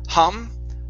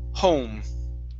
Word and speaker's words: home: And our last one here, okay, is the word home. Instead of hum, home.